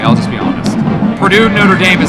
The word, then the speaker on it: Notre Dame: think you're doing this on purpose now oh Notre Dame Notre Dame you just saying it wrong this